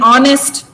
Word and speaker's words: honest: Like in honest also H is silent.